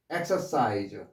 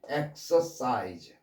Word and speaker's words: exercise: 여기에 강세가 들어갈 때는 X로 발음돼요. exercise.